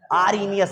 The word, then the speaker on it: Arrhenius: चलो लिसन यहां पे h इसने क्या किया साइलेंट कर दिया आरनियस बोल दिया इसको आरनियस आरनियस नहीं